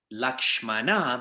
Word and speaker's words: Lakshman: contention otherwise lakshman becomes lakshmana where does it say that but according to hindi sanskrit pronunciation is lakshman that's kind of where it is lakshman reika is not lakshmana it is lakshman reikha so we i think